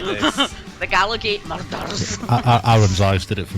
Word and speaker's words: Gallowgate Murders: And I think you can only say the Gallowgate Murders properly if you're actually Scottish. The Gallowgate Murders. You've got to say it like, you know, like there's been a murder. There's been a murder. It's like you've got to roll the R.